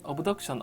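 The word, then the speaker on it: abduction: 엇 억센 이 되겠습니다 일부 발음을 a 비덕 c 언어 옵션 이라고 말하기도 많이 하는데요 정확한 방법은 어브덕션 어 덕신 되겠습니다 발음 관련 한번 보시면요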